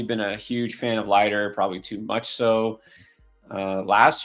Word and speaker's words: Leiter: How do you pronounce it? Ortiz or Leiter? It's definitely going to be Leiter.